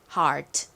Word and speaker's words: heart: heart. 자, 써볼까요? 히읗 소리 나는 H가 오고요. 그리고 여기 E, A, R이 들어가는데 여기서 이 A, R은 예외적으로 ear, air, 등의 발음이 아니라 R이라는 발음으로 쓰였다라고 설명을 드렸었고요.